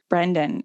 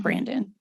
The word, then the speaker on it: Brendan: the decision that it's Brendan. It's for sure Brendan, not Brandon.